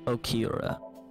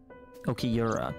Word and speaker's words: Okiura: About Renju Okira. By the way, I heard that you were friends with the president of Lemnisgate, Mr. Okiura. Okiura, okay. I need to work on my pronunciations.